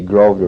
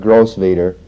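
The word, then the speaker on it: Grosvenor: live on at 50 Grove to Road it's not gross Vader but they uh for some reason don't pronounce the S over here SL 85 are some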